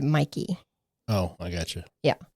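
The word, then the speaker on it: Mäki: And I think I don't know if it's Mikey or Mickey. It's So, it's spelled M A K I, but everybody pronounces it Mikey.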